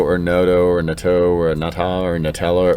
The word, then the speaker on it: Noto: speaking of art phil nado or noto or nato or or nutella or however you say his name i think it's natto phil noto phil noto n-o-t-o